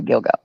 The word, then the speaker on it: Gilgo: the Gilgo Beach and I only know how it's pronounced from the word dildo to Gilgo Thanksgiving I didn't know